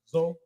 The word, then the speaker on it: Zoe: it's pronounced Zoe.